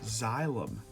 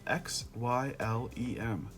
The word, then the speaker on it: xylem: plant up into its leaves, that is called xylem. It's spelled X-Y-L-E-M, xylem.